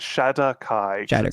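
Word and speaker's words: Shadar-kai: How do you say it? It's It's Shadow Kai. S H A D A R Kai.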